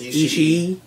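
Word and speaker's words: Ishii: Tomohiro Ichi she really I think it's three syllables Ichi she naughty she eat for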